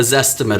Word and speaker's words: Zestimate: Because buyers are educated and they're looking online and they're looking at for instance with Zillow, a Zestimate or a Z-estimate. I've heard it pronounced both ways.